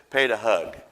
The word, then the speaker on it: Dean Padag: hug he told me that was he said pronounce it like this pay to hug I said okay I'll try to remember that so here's Brother Dean greetings from Cape Town South Africa my name is Dean padag my wife is Sheba we have two kids